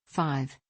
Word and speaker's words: V: over 2010 Overexposed 2012 V pronounced 5 2014 and red pill